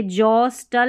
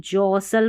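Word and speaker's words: jostle: फिर देखिए जॉस्टल नहीं जॉसल पढ़ना है।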